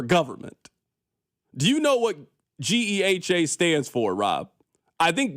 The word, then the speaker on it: GEHA: Rob, you remember we were calling it giha. And we didn't know how to say it. Somebody had to explain to us. No, that's not how you say it. You got to spell it out. G E H A.